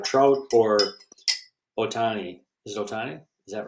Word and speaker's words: Ohtani: you could have trout or Otani this is Otani is that right how you say it yeah